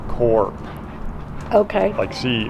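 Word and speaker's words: CURP: you know here we we pronounce it curb you and I but Mexicans I think pronounce it more like core okay let's see how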